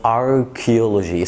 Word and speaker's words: archaeology: أوكي، Faculty of Archaeology، CH هنا بتتنطق ك.